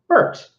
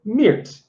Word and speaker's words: Mert: Like, for example, Mert can either be Mert or Mirt.